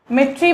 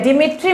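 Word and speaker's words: Dmitri: Format के लिए हम मिट्री मेंडलीव या डिमिट्री मेंडलीव और डी साइलेंट भी रख सकते हो, रशियन केमिस्ट को देंगे।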